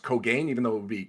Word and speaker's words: Kogane: pronounced it like that, like Cogaine instead of Kogane.